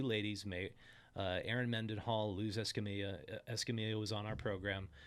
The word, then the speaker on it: Escamilla: made Erin Mendenhall lose Escamilla Escamilla was on our program sorry for pronouncing her name s Camila I got a lot of online mispronouncing her name but we she was